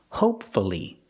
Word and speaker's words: hopefully: practice with hopefully again hopefully three syllables pronounce to you hopefully